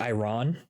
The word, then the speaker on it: Iran: Um because it's sort of like it's why everything prices are going up cuz Iran was basically like we're not going to give you stuff if you attack us.